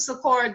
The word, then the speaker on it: Sikora: So yeah, Joseph Sikora the same, and his last name rhymes with LaCora.